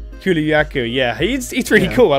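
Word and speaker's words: Kulu-Ya-Ku: Kuluyaku, yeah.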